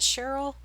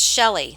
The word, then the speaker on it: Shelley: Is that Cheryl? It's Shelley. Sorry, I said your name wrong.